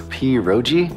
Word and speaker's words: pierogi: What is this, pierogi? Did I pronounce that right?